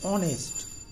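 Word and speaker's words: honest: ঠিক আছে, আবার অ্যান অনেস্ট, অ, ঠিক আছে, আওয়ার, অনেস্ট। ঠিক আছে, তাহলে উচ্চারণগুলো একটু খেয়াল রেখো।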